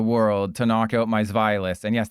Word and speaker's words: Zweilous: to knock out my Zweilous? And yes, that's how you pronounce it, because it's German.